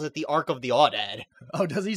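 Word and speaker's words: aoudad: So, yeah, what you were saying, he pronounces the word awdad, but it's really pronounced owdad.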